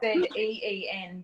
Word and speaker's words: zine: It's not Zine, it's Zane. Well, it's pronounced zine, as in Oh, Zeen, but it's the way it's spelled.